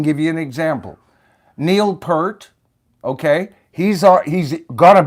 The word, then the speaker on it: Peart: It's actually pronounced Peart, Michael.